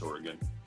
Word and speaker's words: Oregon: Craig Davis, pardon me, because that's how it's pronounced, right? People from Oregon. It's Oregon.